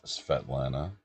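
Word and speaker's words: Svetlana: So, my name gets mispronounced all the time, says Svet Lana. People just can't put the SV together.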